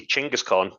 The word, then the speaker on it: Chinggis Khan: So I would go with technically Chinggis Khan, as it would have been pronounced Yeah, in the time.